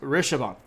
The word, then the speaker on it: Rishabha: So this is, it's a long word, but it's pronounced Rishabhan.